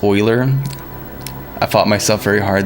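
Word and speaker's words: Euler: Forgive me, but Uler is pronounced Oiler.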